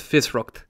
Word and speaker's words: fiosracht: By the way, it's pronounced Fisrucht.